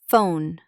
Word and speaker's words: phone: Examples park plus shopping apple Europe type but ph is different. It makes a f sound. Phone alphabet.